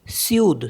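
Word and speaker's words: sud: फ्र करके पढ़ कोल्ड इसका एक्सेप्शन है एस यूडी सूद सूद मतलब साउथ तो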